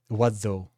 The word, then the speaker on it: oiseau: Oiseau. Wazo. That's how that word is pronounced.